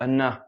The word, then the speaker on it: enough: Okay, so we put the stress on the ending syllable. Okay, enough. And again, stay real strong. Okay, don't die out and go enough.